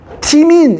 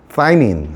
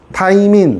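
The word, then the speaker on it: thymine: 티민 이렇게 읽었어요. 예전에 요즘에는 이거 th는 뭐다? 뻔데기 발음이라고 하지 그지? 사이민 사이민이라고 합니다. 어원어 발음 이렇습니다. 사이민 타이민 사이민 오케이음 그렇게 읽으면 돼요.이 U는 뭐라고?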